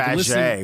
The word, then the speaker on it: Faget: You but say like Faget, which is the way it's spelled.